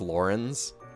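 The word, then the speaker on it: Lorentz: are pronounced weird lawrence i would say it's lorenz but it's apparently it's lauren's ignots marianne leone mercedes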